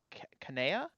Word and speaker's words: Kanea: You see none other than, I think it was Kanea? Is that how you pronounce it? Kanea, yeah.